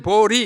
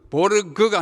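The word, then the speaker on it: Swedenborg: 세 번째는 줄 베른, 네 번째는 에마누엘 스웨덴 보리, 이것도 보르그가 아니고 보리라고 읽어야 스웨덴 말입니다.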